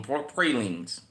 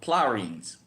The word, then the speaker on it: pralines: Like, the candy we make, pralines, out-of-towners call them poor pralines. In New Orleans, we call them plaw-reens.